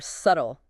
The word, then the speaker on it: subtle: Doubt pronounced doubt or subtle.